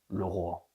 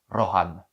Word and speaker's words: Rohan: Moi le premier le Ran, le pays des seigneurs des chevaux. Mais techniquement ça se prononce Roran.